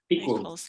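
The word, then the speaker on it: Eaquals: Is that how you say it, Ian? Equals. Yeah. Equals. I'm making it too complicated. The A is silent.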